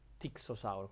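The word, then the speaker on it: Styxosaurus: Sauro lo stio Ah se uno dice perché c'è la IPS non si legge staxo è perché certi nomi anche se vengono in latino o in greco spesso volta Greco si legge Come si scrive tixos Sauro con la i anche se sta scritta y un po' come tirannosauro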